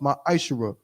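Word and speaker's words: מעשר: You can find this in Numbers 18 and 21, and Malachi chapter 3, verses 8 through 10, means 10th in Hebrew and is pronounced ma'ashara.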